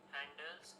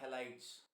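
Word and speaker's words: halides: reaction of the decomposition of silver handles are used in black and white photographs. Okay, ये word आपने गलत pronounce किया है, मैं इसको करेक्ट कर रहा हूँ अभी। इनको बोलते हैं हेलाइड्स।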